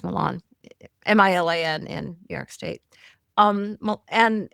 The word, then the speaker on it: Milan: If it was in New York, it would be Milan, because that's how you pronounce Milan, Milan in New York State.